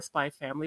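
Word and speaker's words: Spy × Family: I also watched all of Spy X Family, or Spy Family, whatever it's called. I usually keep the X silent when it's in the middle.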